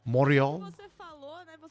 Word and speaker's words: Montreal: in Montreal I guess moral actually when people from Montreal pronounce Montreal they don't actually say the T half the time it's say Mor I know they have